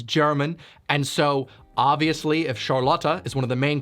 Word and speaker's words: Charlotte: way he pronounced charlotte it's charlotte not charlotta how it's pronounced in german thank you by the